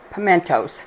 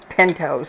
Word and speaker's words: pimentos: I can pronounce this pimentos that's it I got it right I always want to say pentos I don't I guess that's because of pinto beans I don't know but